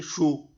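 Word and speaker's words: 树: En chino moderno este carácter ha pasado a significar madera, mientras que árbol se dice shu.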